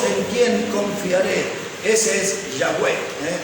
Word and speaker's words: Yahweh: Ese es Yahweh. Así pronunciaban la forma fonética más parecida al nombre de Dios es esa, Yahweh.